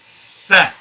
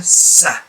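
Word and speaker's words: ث: So you get your tongue firmly between your teeth. If you keep it behind your teeth, it turns into a Sa, which is wrong. The reason why people don't pronounce this as Tha is because they are not sticking their tongue out enough. And it should not be behind the teeth, it should be right between the top and the bottom teeth.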